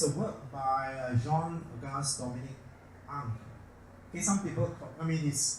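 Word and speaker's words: Ingres: This is a work by Jean-Auguste Dominique Ang. Okay, some people, the pronunciation of his name varies. Some pronounce it Angre, some Ang.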